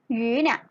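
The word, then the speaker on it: 鱼: ปลา นั่น เอง นะ คะ ออก เสียง ว่า เนี่ย แปล ว่า ปลา นะ คะ นัก เรียน เรา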